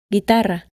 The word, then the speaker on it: guitarra: To keep the G sound when an E or an I comes after it, it is written with a U, which is always silent. Guerra, guitarra.